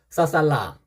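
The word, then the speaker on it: ศ ศาลา: 어쨌든 이 고자음 중에 써라고 발음하는 세 가지 고자음이 있습니다. 그래서 써살라, 써살라, 써살.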